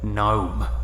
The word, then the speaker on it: gnome: fiber of my being gnome gnome the very word is steeped in hideousness the silent g stands for evil there is no force